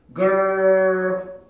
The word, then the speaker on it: girl: 그러니까 R 발음까지 해서 여기까지 만들어 놓고 그 다음에 L 발음을 할 때 여기를 이렇게 혀를 이렇게 밀어내야 된단 말이에요. 그럼 이제 같이 한번 해봅시다. 알 발음까지만. girl, girl, girl, girl. 자, 하고 계세요? girl 발음까지만 하고 계세요? 그 다음에 이제 혀를 움직여서 L 발음을 하기 위해서 여기 치조랑 이빨이 만나는 그 지점으로 혀를 딱 밀어내는 거야.